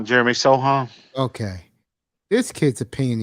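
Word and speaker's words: Sochan: And this kid, Jeremy Socren, that's the way you pronounce his name? Jeremy Sohan.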